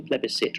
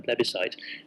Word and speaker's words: plebiscite: And, you know, if you use the word plebiscite rather than referendum, especially with his old-fashioned pronunciation plebiscite rather than plebiscite, then you're just betraying